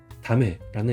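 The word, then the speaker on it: 駄目: 그래서 이것도 발음이 다메라는 의미입니다.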